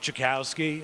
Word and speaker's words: Jackowski: all right so i'm going to introduce jokowski who is going to go take you through the legal history of this property um my name is jakowski and that last name is spelled for you irishman j-a-c-k-o-w-s-k-i um i'm an